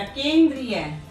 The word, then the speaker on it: केंद्रीय: केंद्रीय। केंद्रीय। हम क्या बोलते हैं? केंद्रीय। तो बड़ी की साउंड आ रही है यहाँ पर, छोटी की साउंड नहीं आ रही है।